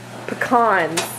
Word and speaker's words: pecan: Pecans. Yeah. Is how it's pronounced.